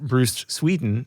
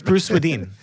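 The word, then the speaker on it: Bruce Swedien: who just noted that it is not Bruce Sweden, as we've been saying for the last year and a half. No, I've been kicking you under the table every time you say it wrong. Have you? Well, I don't think so. My legs are short. It's Bruce Sweden. Sweden, of course it is. Sweden. I knew that. Just like it's written.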